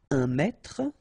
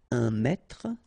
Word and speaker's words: mètre: Un mètre, and so you will have the translation here. Un mètre, and then un mètre as well. Okay, so un mètre and un mètre, same pronunciation.